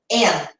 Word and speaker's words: in: Lembrando que a gente teve nossa live de pronúncia, é um i, mas o som dele é e. Então, aqui é en, e não in, tudo bem?